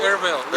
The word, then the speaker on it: Erbil: Erbil, yeah.